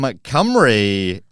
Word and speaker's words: Cymru: From Cymru, it is James Burton.